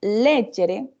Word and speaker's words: leggere: Pero leggere, ¿sí? Tiene el acento en la primera E, y aunque se escriben igual, ¿sí?